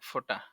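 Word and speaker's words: ف: ফা তার নাম ফা আর ফা উচ্চারণ কেমন হবে ফা হাসিমুখে দাঁতে ঠোঁটে আদায় হবে ফা সহজ আছে ফা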